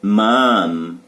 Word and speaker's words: mom: Bum, son, mom, fun. Pronunciation não é pronun, ok? Observação sobre o mom e o fun. Terminar em M, fecha os lábios. Mom. Terminou em N, sorria. Fun.